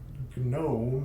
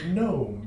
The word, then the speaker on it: gnome: like no it's not gnome it's gnome because we decided that the g is silent for some reason yeah so two of